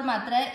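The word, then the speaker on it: मैत्रः: मैत्र, ये है विसर्ग, विसर्ग का उच्चारण इसके पिछले वाले अक्षर की मात्रा पे डिपेंड करता है, त्र में किसकी मात्रा है, अ की, तो इसको बोला जाएगा ह, मैत्र ह।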